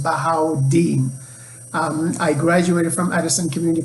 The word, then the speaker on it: Bahaudin: dean for short because my first name is pronounced bahau deen i graduated from addison